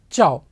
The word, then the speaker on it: ciao: you say this ciao c i a is pronounced as cha so ciao now we cannot use